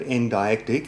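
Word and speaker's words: endeictic: Okay, Google says that the word endictic, and that's how you pronounce it, means to show or exhibit, so I'm guessing that's what Chuck does in his YouTube channel.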